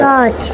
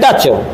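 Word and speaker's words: touch: तो ये क्या लिखा है, छोटू बताओ, ये क्या लिखा है, टॉर्च। हैं, टॉर्च। टॉर्च नहीं है, ये है टच।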